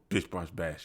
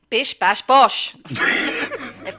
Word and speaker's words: bish bash bosh: so brush bash everybody bish bash bosh if you're gonna say it say it properly reggie or don't say it at all you're offending my british